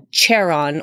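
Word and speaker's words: Charon: a CH pronounce it Sharon or share on but I think it's I think it's pronounced Karen I could be wrong today I watched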